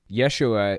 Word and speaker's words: Yeshua: Yeshua is actually the original Hebrew pronunciation of Jesus. J's didn't even exist until like the 1600s or something like that. So I find it really weird that we use Jesus at all.